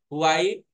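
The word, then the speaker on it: Huawei: आपको अगला आइटम का नाम है हुआई, स्पेलिंग यहाँ देखोगे कुछ अलग है यहाँ पे, ठीक है, P30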